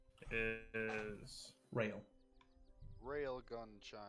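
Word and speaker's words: Rael: Orchard Barkeep's name is Rail. Railgun chime. Like, I was in like a rail. That's how you spell it. R-A-E-L. Like you're about to get railed. okay.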